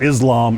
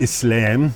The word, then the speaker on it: Islam: It's not Islam, it's Islam. And it's not Muslim, it's Muslim.